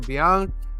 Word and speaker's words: Bianchi: The 1 in 25 Simone Bianchi.